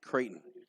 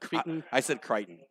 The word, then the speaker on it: Creighton: oh sorry Creighton Creighton right that's what I said no I said it wrong cuz you know I said Crichton Crichton you and I'm horrible